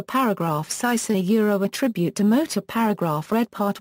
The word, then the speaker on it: Motörhead: However, this umlaut does not alter the pronunciation of the band's name. When asked if Germans pronounce the band Motörhead, Lemmy answered no, they don't. I only put it in there to look mean.